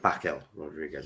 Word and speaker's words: Raquel Rodriguez: Sorry, Raquel Rodriguez. I do apologize.